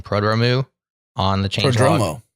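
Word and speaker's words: Prodromou: never remember how to say his last name, Prodromu, on the Changelog. Podromo, thank you.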